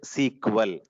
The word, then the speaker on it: SQL: full form SQL or people are going to be calling this as a sequel never never write like